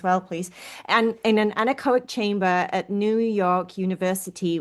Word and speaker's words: anechoic: is the word that I need you to pronounce for me as well. From the 500 hours in is it anechoic?